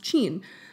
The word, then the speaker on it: Qin: and he established the Qin Dynasty it spelled Qi N and is pronounced Chien I mean it's where